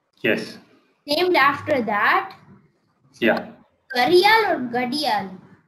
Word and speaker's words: Gharial: So, da and ra are used interchangeably in North India. So, it's written depends with on the accent. R. It's written with R, but it's often also spelled with a D. But in English, R is the accepted, more accepted spelling.